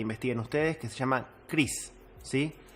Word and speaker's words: crease: ustedes que se llama Cris. Sí, se escribe crease, no como mi nombre, se escribe Cris.